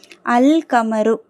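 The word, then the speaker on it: القمر: ஓகேங்களா அல்கமரு லாம் உச்சரிக்கப்படுது ஏன் காப்ங்கிறது கமரியாவுடைய எழுத்து சோ அல்கமரு அந்த நிலவு அந்த சந்திரன்.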